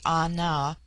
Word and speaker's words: Ana: The word ana pronounced broadly ana corresponds with our plural men.